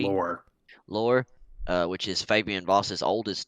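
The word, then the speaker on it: Laure: Laurie? Yeah, Lore, which is Fabian Voss's oldest daughter, correct?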